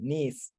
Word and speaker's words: ناس: don't know why, but the word nas is pronounced like nis.